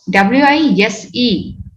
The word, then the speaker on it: wise: See here, W-I-S-E, but the pronunciation is z sound, not wise.